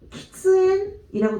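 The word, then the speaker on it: 喫煙: 지금 금연 어떻게 읽었냐면은 킹앤이라고 읽었는데 흡연은 우리가 키츠앤이라고 들릴 거예요. 키츠앤이라고 들리게 되는데 금연은 지금 한자를 옆에다 한번 써볼게요.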